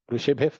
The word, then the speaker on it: ಋಷಿಭಿಃ: ಇಲ್ಲಿ ಋಷಿಭಿಃ ಮುಂದೆ ಪಾ ಇದೆ, ವಿಸರ್ಗ ಇರೋದ್ರಿಂದ ಅಲ್ಲಿ ಫಕಾರವನ್ನ ಉಚ್ಚಾರಣೆ ಮಾಡಬೇಕು. ಋಷಿಭಿಃ ಪರಿಗೀತಾನಿ ತಾನಿ ವಕ್ಷ್ಯಾಮಿ ಭೂತಯೇ.